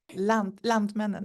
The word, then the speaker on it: Lantmännen: at, you're going to have to help me pronounce this, Annalise, I do not butcher this name. Lantmännen, yeah, it's right.